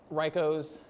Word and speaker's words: Reiko: __ ] don't know tweet it back to me riko and Koo Reiko Koo got it she hashtag